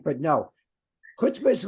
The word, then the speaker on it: chutzpah: Or like chutzpah? No, you're saying it right, but no. Chutzpah is like, you know, when you really don't want to do something and you force Yeah, yourself.